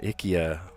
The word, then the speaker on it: IKEA: We pronounce it differently and it's not the way it should be pronounced apparently. It should be uh Ikya, but yeah, IKEA. We all say IKEA.